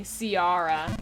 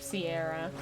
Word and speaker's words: Sierra: I had to guess it's like when people call me Ciarra instead of Sierra so I try I